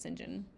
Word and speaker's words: St John: a crabbed but glorious Deutsch I wonder when singen will come home it's it's spelled St John but it's pronounced singen surely he will not be long now it